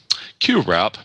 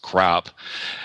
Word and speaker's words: QWrap: QWrap, not pronounced crap, has an original holiday video behind each code on its paper.